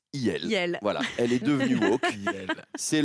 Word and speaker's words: IL: c'est il le parti de Marion maréchal se prononce il voilà elle est devenue c'est le grand remplacement